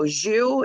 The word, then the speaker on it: Zhu: Zhu is the main character. Is that how you pronounce it?